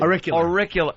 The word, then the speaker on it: auricular: It's a therapy you can't even pronounce. Auricular therapy. That's why Vos picked it. It's the one word he can't something like ocular? A-U-R. A-U-R. A-U-R. What, do they go through your ear? I-C-U-L-O therapy. Auricular.